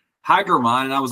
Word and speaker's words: German: call yesterday and the person was like hi gmon and I was like whoa how do you know how to pronounce my name correctly and he was like